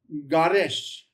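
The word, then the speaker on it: גרש: If the dot's on the right, that's your SH, not your S sound. So it'd be pronounced garesh.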